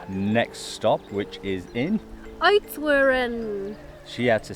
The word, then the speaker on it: Oudtshoorn: Oudtshoorn. She had to say it because I can't pronounce Try it. it. Oudtshoorn.